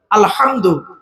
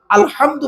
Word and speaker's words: আলহামদু: আলামিন মা বোনেরা শুধু আলহামদু গলার ভেতর থেকে উচ্চারণ করবেন আলহামদু আলহামদু মানে হচ্ছে সমস্ত প্রশংসা